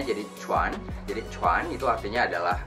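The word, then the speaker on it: 犬: Nah, itu bacanya jadi cuan.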